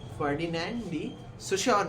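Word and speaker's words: Ferdinand de Saussure: तो इसे Swiss linguist फर्डिनेंड डे सोशोर, फर्डिनेंड डी सोशोर ने दी थी। क्या है? फर्डिनेंड डी सोशोर। ठीक है, स्पेलिंग लिख रहा हूं मैं, इसका प्रोनाउंसिएशन ही होता है फर्डिनेंड डी सोशोर।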